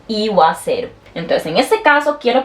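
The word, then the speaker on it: 言わせる: Este no quedaría iaseru, no, eso está malo. Se dice iwaseru.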